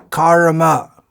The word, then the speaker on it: karma: They sound very much the same if you don't pronounce that r in karma clearly. One is kama, which means desire or lust, and the other is karma, which means work, action, and so on.